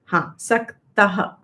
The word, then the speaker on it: सक्तः: The visarga should be pronounced completely. Ayatah. Saktah.